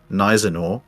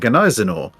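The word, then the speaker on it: Gneisenau: just take your pick whether the g is silent or not and whether it's our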